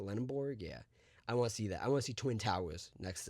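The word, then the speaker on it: Lendeborg: That's what Yaxel Lenborg, right? That's how you say it, Lenborg.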